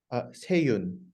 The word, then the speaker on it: Sea-Yun: How do I pronounce that properly? Seyun.